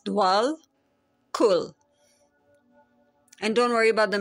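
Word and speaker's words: Djwal Khul: It's DJWAL, KHUL.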